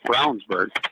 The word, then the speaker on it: Ravnsborg: I learned how to say his name Jason Brownsberg BR perfect okay wait I'm going to stop